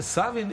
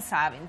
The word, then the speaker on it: Savin: Da li se čita Savin ili Savin? Ja kažem Savin, pošto sam ja iz Valjeva. Ja negujem te duge akcente, tako da...